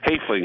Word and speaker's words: Hoefling: Because Tom that Hoffling. Was my mother's maiden name. Tom Hoffling. Hoefling is how we pronounced it.